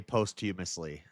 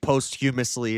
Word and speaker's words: posthumously: Okay, I say posthumously, and Shiva has attacked me over this. I think posthumously is acceptable. Tomato, rather than posthumously, because it means after death. So post is after.